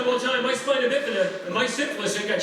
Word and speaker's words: spina bifida: Now it's pronounced spina bifida.